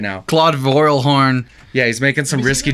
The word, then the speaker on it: Vorilhon: I hope no idea it looks like vorilhon yeah yeah what a true Texan we pronounce it coral Han true so the Raelian